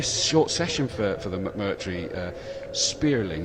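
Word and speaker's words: Spéirling: for the McMurtry Spearling, is that the right? Spearling, yes. Spearling, yeah. I wasn't sure with an accent on there. I thought I'd better check to make sure that I wasn't getting it wrong.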